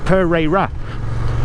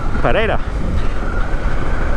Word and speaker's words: Pereira: If you don't know Pereira, you would probably read it and say it Pereira. Pereira. But it's kind of pronounced like there's a D in it. Pereira.